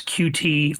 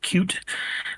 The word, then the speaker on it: Qt: you know your vernacular you either pronounce it as QT or cute.